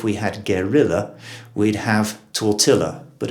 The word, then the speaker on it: tortilla: talk about is tortilla where we have adopted the spanish pronunciation tortilla you'd have thought if we had guerrilla we'd have tortilla but it's not the